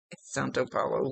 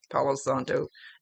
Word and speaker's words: Palo Santo: Santo Palo, whatever the hell it's called. Palo Santo. I always get it backwards.